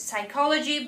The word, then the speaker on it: psychology: be very careful of the word psychology because p is not head at all but it is written down it is heard psychology but you spell it